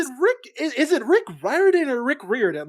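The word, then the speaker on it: Riordan: pronounce your name and he was like Rick Ryan it's sort of rhymes with fireman sort of but there is also a clip of him saying rear in I I've never seen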